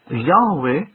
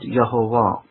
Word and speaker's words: Yahweh: Yes, you can pronounce it Yehovah, and I don't want to say that you can't pronounce it. You can. You can pronounce it Yehovah as much as you can pronounce it Yehovah. You can. You can pronounce it Yahweh as well, as the old Africans did. Yahweh is another form that they pronounce God's name as.